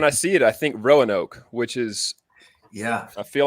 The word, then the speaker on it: Roanoke: got it wrong because I misread Roanoke. All this time, I thought it was with an A-O and not O-A, so I pronounced it in my head Raoke and Raonoke, and I like the